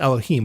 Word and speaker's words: Elohim: That God there, it's pronounced Elohim, which is plural for many gods, right?